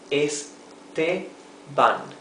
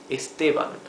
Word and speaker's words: Esteban: words that are similar, because of the vowels in Spanish need to be flat, totally flat, always. So this is Esteban, Esteban, Esteban, okay? Esteban, not Esteban. For it to be Esteban, it should have a tilde here, and it does not.